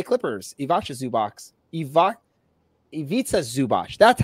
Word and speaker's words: Zubac: for the LA Clippers iasa zubo I iita zubach that's how you say it iita zubot um